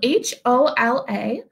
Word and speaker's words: hola: saying Ola it's spelled h o l a but the H is silent so you say it like OA so hola everyone thank